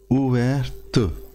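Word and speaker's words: ouverte: सज्जे हथ जो लिखा है खुले हुए नूं बोलेंगे उवेर उवेर उवेरत उवेर उवेरत। बोलने उच्चारण थोड़ा जा फर्क है पुलिंग और स्त्रीलिंग का।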